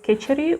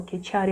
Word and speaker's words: Khechari: will be benefits of Kechari or Kechari mudra. Everybody pronounces Kechari Kechari. It depends which language you speak, which guru you follow and this kind of stuff. Both is about the same mudra.